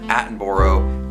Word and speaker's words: Attenborough: And so I really like that idea, and Richard Attenborough, that's how you pronounce his last name, the guy who plays Santa Claus, is like the perfect pick for Kris Kringle.